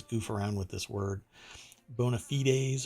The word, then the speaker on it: bona fides: around with this word bona fides or bonafides depends on how you want to pronounce it um but i think it's bona fides anyway for the ford